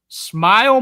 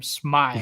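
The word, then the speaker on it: Smael: Smile Mundon, dude. That's how you say his name. Smile.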